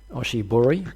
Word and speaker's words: oshibori: question is about uh what I believe is pronounced the Oshi Buri which is the wet tail what do I need to know about that you've got it right the osab bori is